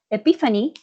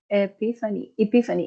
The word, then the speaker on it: epiphany: Epiphany has 3 syllables. Oh no, Epiphany. Yeah. So it's true. It has 4 syllables.